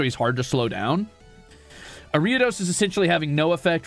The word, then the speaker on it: Ariados: My brother says that he likes that you pronounce Ariados like Doritos.